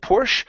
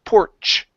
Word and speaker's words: porch: c h sound here instead of porsch it's porch it's a puff of a sound then we stop the sound porch porch good good okay